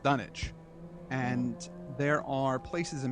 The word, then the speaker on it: Dunwich: Afterward, one sometimes learns that one has been through Dunwich.